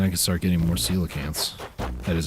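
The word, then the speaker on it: coelacanth: Cuz then I can start getting more celacants. That is how you pronounce it, by the way. I used to call it koacanth cuz that's kind of how it's spelled.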